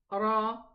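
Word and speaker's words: ر: This is a Ra. And how are we going to read it? Go ahead. Ra, Ri, Ru.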